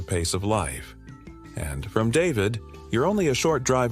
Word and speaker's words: David: Then there's David, pronounced David, which might surprise some.